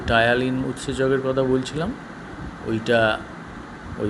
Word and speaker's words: ptyalin: কী বললাম নামটা? টায়ালিন। বানানটা অদ্ভুত। পি দিয়ে শুরু, PTYALIN। এই টায়ালিন উৎসেচক আর লালারসটা, এইটা ওই মুড়িটার সঙ্গে মিশবে, ম্যাস্টিকেট করবে, তুমি চেবাবে।